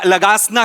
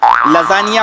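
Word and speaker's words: lasagna: दिवशी आपण हा खाऊया लगासना खाऊया लगासना तुमच्या बापानी केला होता लगासना लजानिया बोलता येत नाही स्पेलिंग वाचून लगाना बोलता तुम्ही तुमच्या बापाने केला होता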